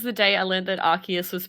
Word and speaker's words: Arceus: day i learned that arceus was pronounced with a hard c and not the soft one this whole time i'm